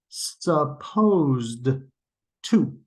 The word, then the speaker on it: supposed to: or supposed to right if I say the first one and the second one again they're pronounced exactly the same I can't really hear supposed to the Ed ending melds together with the T sound in the preposition to so supposed to becomes becomes supposed to or some people say